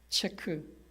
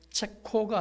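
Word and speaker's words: Czech: 종교 지도자들을 잡아 죽였고 체크 체크와 슬로바키아가 있었는데 둘이 합쳐지죠. 그래서 발음하기 좋도록 가운데 오를 집어넣습니다. 발음하기 좋토록 그래서 체코 슬로바키아가 됐습니다. 이제 다시 체크와 슬로바키아가 나눠졌습니다. 그러므로 체코가 아니라 체크라는 말이 옳습니다.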